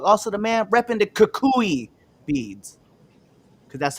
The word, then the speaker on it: Kukui: neighborhood Red Dog, also the man repping the Kukui beads, because that's how you pronounce it.